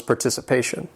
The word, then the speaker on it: participation: This word has 5 syllables. The stress is on that 4th syllable, participation.